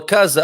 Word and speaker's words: casa: So, for example, if you have an S between 2 vowels, the sound is, how do you say house? Or casa, a mesa. Casa, mesa. Right. So the sound turns into Z, like the Z.